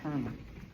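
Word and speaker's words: colonel: to rank of Kel so that word is pronounced Kel and Comm I'm read now yes okay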